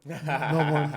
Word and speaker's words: Melbourne: well it's like I I always would pronounce Melbourne and when I went to Melbourne people were like oh it's Melbourne like it's very Australia we like to compress the vows as much as possible yeah yeah that's awesome